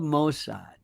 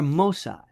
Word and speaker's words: Mossad: How we love Mosad or Mossad depending upon how you pronounce it.